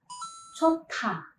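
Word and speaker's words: 좋다: Contohnya pada kata chota. Konsonan hiet berada di bacim positions dan konsonan diget itu berada di initial positions. Maka konsonan diget ini berubah menjadi tiet dan kita melafalkannya menjadi chota.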